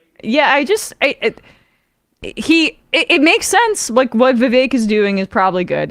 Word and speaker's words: Vivek: So actually, his name is Vivek, like cake.